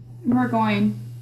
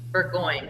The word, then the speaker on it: Burgoyne: That is pronounced just like it's spelled. I thought it was maybe like a French spelling or something. I didn't know. It is French, but we don't say it that way.